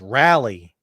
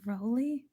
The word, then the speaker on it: Raleigh: at raleigh and it's rally oh no what the hell it isn't two words of course it's one word raleigh rally he's saying it's rally rally not rowley i'm not saying rolly rolly but this person